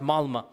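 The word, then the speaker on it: Malmö: And in Stockholm, if you have 10% Muslim, I was in the city of Malma. Malma, it's is spelled with an O, but it's pronounced Malma.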